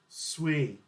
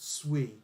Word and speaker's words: Sui: Sui. Thank you, Huds Crypto. It does say on their paper, it's pronounced Sui, not Sui.